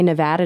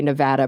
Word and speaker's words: Nevada: Yeah, so we say it similar to attitude, but everyone else says it with like the ah sound. Yes. Yeah. And so I was saying, I think I say Nevada now that I live